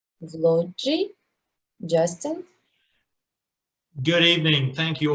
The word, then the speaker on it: Vloggi: Vloggi. Okay. Like a vlog, like a video vlog.